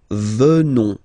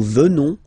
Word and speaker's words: venons: Final S not pronounced. So O-N, on, venons, venons.